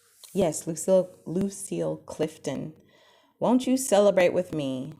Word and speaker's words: Lucille Clifton: Yes, Lucille Clifton.